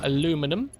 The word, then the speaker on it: aluminum: I've got to, for those Satisfactory people, I've got to aluminium, or aluminum, as the Americans say. Is that right?